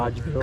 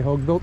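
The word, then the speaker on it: Hodgebuilt: Hodge built. Cuz I used to say hoguilt. And I went to them and I asked them at Matt, "How do you say it?" They go, "Hodge?"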